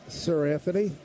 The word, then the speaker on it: Seranthony: Judge 2 for 3 with a strikeout against Sir Anthony. First name is spelled Seranthony.